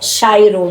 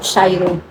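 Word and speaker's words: χαίρω: terminando 5 4 63 Cairo é chairo no caso né a gente lê cair porque a a antiga pronúncia né quando c h não é faria essa k ou chairo um verbo primário ser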